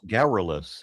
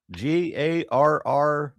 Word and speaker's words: garrulous: What's garrulous? How do you spell that? Wait. Garrulous. Aaron, I thought you spoke English. Oh, Come on, that's a Aaron. new word for me. Come on, Aaron. Garrulous. Garroless.